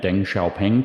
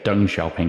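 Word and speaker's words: Deng Xiaoping: right longtime right-hand men Den sha ping took power I should say d sha ping is how actually say his name I've been trying to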